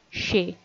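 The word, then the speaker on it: সে: informal singular one and you are going to pronounce it as shay this spelling might look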